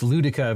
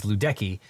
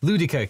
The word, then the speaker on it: Ludecke: In the 1948 case Ludica versus Watkins, which I apologize, I previously pronounced that as Ludecky, but in the Ludica case, the Supreme Court